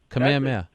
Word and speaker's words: Kamehameha: Kamehameha.